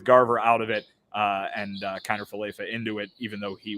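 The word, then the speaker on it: Kiner-Falefa: Kiner Falefa. Yeah, it's fine. There we go. Good pronunciation.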